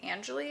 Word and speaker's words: Angeli: This one is Angeli is how it's said.